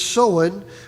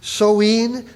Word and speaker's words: Samhain: The standard Irish pronunciation is Samhain with the O like in cow or Samhain.